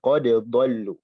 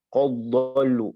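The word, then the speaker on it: قد ضلوا: Nah, ini dibacanya qad dengan qalqalah ya. Qad dhallu. Bukan qad dhallu langsung ke dad. Dalnya harus jelas. Qad dhallu. Enggak boleh melebur.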